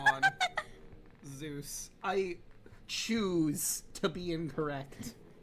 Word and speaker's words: Zeus: Uh that I found out that Zeus is actually pronounced Zus in current Greek.